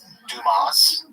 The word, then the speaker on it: Dumas: This is Dumas. That's how you pronounce his last name.